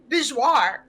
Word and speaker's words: bezoar: He says Bijouar. So even the movies changed it. Like, Yeah. I don't know why. I don't know why they went with Bezoar later, because they even say bourgeois in the first movie. So that means Bezoar was a book change first. Yeah. And to be fair, I'd rather say Bezoar. It's so much easier than bourgeois.